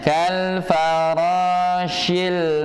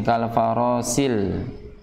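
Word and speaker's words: كَالْفَرَاشِ: Ini ada huruf sifat, ada huruf pada di kata kal farashi. Ya, itu huruf sin, perhatikan. Karena sering bacanya dengan bacaan yang sin, kal farasil. Ya, sering terdengar ketika dibaca di ayat ini bacanya dengan bacaan sin. Kalaupun atau ada juga yang bacanya dengan bacaan huruf shad, kal farashil sil, kal farashil ya.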